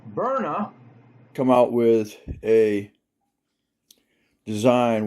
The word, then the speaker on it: Byrna: A company called pronounced burna come out with a design where the pistol and their rifles are non-lethal but they will do damage.